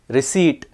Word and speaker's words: receipt: column n is silent receipt p is silent ghost um H is